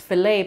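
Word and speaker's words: filé: I believe it's called, it's spelled file, but it's filet powder for gumbo.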